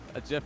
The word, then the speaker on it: GIF: People think it's GIF, but the dude who created the GIF, What, you trying to tell him wrong? he says it's GIF.